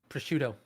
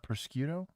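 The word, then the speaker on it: prosciutto: Pushcuto. Is it porchido? Pushcuto. It's not procto.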